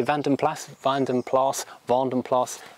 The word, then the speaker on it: Vanden Plas: the pond and so using the flemish dutch belgian pronunciation it is vanden plas any comments saying i've